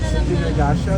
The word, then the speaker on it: Synergasia: How do you pronounce it? Sinergasya.